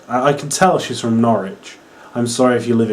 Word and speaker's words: Norwich: it's i'm from norwich it's norwich n-o-r-r-i-c-h that's why you say norwich uh yeah um you